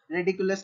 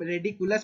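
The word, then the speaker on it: ridiculous: Correct spelling आपका रेडिकुलस का पूछा है, तो आप ऑप्शन देख के आपको सही आंसर बताना है। तो सॉरी, हम रेडिकुलस प्रोनाउंस नहीं करते, इसे रिडिकुलस प्रोनाउंस करते हैं, तो रिडिकुलस आपका करेक्ट आंसर होगा।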